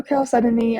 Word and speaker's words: chalcedony: So that's blue chalcedony.